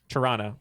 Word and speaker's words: Toronto: on in our podcasting career that you don't pronounce the second te no it's Toronto it reminds us of there's a Chicago Bread